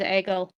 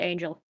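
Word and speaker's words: Aegle: Well, I thought that the person happy was investig her name is Agel, not Angel. Okay. A E G L E.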